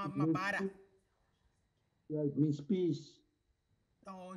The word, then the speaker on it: Mobara: Yes, it's pronounced correctly, Mobara. It's Mobara.